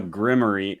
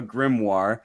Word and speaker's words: grimoire: Um, I also have a grimory, a grimory. I also have a grimoire. I don't know why I say grimory literally every time I pronounce that word.